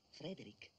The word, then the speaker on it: Frederick: No, si pronuncia Frankenstein. Allora dice anche Frederick. No, Frederick.